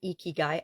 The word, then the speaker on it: ikigai: necessarily need them there's a Japanese process called eeky guy eeky guy i k i g a i and it's pronounced eeky guy I actually Googled it because I wasn't sure